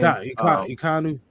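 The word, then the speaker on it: Ekwonu: Oh, Akeem Ikonu, not Ikonu. That's how you say his name. Ikonu.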